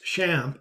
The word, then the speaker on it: XAMPP: video demonstrates how to install xampp pronounced shamp for Windows this video